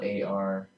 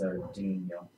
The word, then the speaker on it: Arduino: That was not actually how you pronounce it. That was Arduino, spelled ARDUINO. This is Arduino.